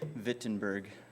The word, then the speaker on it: Wittenberg: door in Wittenberg, Germany, or should I say Wittenberg? I think that's the correct pronunciation.